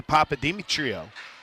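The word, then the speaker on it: Papadimitriou: It's spelled like it's s it sounds like it's spelled.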